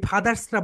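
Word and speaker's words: fathers: এখানে হচ্ছে ফাদার্স, এই যে ফাদার্স, এই ফাদার্সরা বলি না, কিন্তু আমাদেরকে বলতে হবে ফাদার্স। সবাই বলো ফাদার্স, ফাদার্স। ফা যখন উচ্চারণ করবে উপরের দাঁতটা নিচের ঠোঁটের সঙ্গে হালকা টাচ করবে, বলো।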